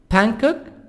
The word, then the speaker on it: Bangkok: Bangkok, G silent. Bangkok.